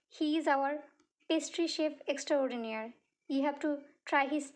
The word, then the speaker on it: extraordinaire: next one extraordinaire extraordinaire is a word borrowed from French pronounced in English extraordinaire okay it is used